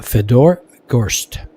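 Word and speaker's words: Fedor Gorst: And Feder goes Fedor goes Fedor Gst.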